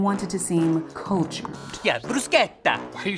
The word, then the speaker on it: bruschetta: Yeah, bruschetta. Why are you saying it that way? That's how it's supposed to be pronounced.